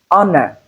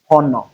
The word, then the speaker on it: honor: This is honor and not honor.